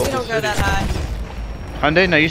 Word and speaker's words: Hyundai: Hyundai? No, you said it right. Hyundai.